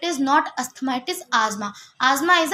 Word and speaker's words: asthma: Some people pronounce it एज़ अस्थमा बट इट इज़ नॉट अस्थमा। इट इज़ अस्थमा।